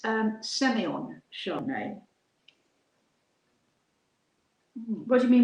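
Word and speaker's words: Sémillon: In Australia, they would probably say Semillon, because that's how it's spelled. It's a grape variety that started off in France, in Bordeaux, and they pronounce it Semillon. But in Australia, of course, it's Semillon.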